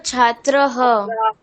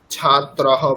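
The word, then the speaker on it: ছাত্রাঃ: কি হবে স্যার ছাত্রহ ছাত্রহ পড়লে কিন্তু হবে না ছাত্রাহা ঠিক আছেছাত্র হ নয় ছাত্রা হা যেখানে আকার আছে সেখানে হ আকার উচ্চারণ করতে হবে বিসর্গের ছাত্রাহা যেখানে অকার আছে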